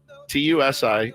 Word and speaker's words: tusi: Everyone's saying it potentially is is called um Tusi, TU SI, and I looked, it's how you pronounce it, Tusi.